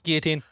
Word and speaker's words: guillotine: Guillotine. Guillotine. Guillotine. Guillotine. I like guillotine. Well, that's how it looks, but it's pronounced guillotine.